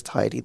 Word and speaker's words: Te Ariki: And I was like, as long as you know now that it is Te Ariki, then I'm not gonna